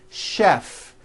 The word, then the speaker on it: chef: of words that are spelled with CH and are also pronounced with the SH sound words like chef and the city of